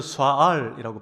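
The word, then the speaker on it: שָׁאַל: 이 문안이 뭔가 히브리어 스와알이라고 발음하는데 딱 두 가지 뜻밖에 없습니다.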